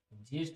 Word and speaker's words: ज्येष्ठ: लेकिन हमारे यहाँ उसको जेठ जेठ बोलते हैं। जेठ, जेठ, जेठ जी, ज्येष्ठ। सही प्रोनाउंसिएशन इसका क्या है? ज्येष्ठ।